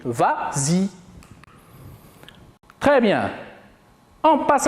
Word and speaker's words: vas-y: ça la vraie conjugaison mais comme il est suivi d'un pronom on ajoute le s pour faciliter la prononciation et on dit vas-y très bien on passe